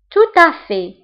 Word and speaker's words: tout à fait: تماما tout à fait. Tout à fait. هنا التي لا تنطق. Tout à fait.